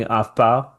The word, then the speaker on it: afbouw: Stera afbouw.